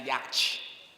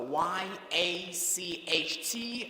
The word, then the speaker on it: yacht: sounds of the word so y a c h t is not yet it is yours yacht that's the pronunciation of that word the